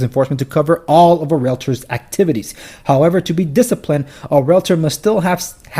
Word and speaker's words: Realtor: Realtor, not realtor. If you're saying realtor, you've been pronouncing it wrong this whole time. Do you see an A between the L and the T? No.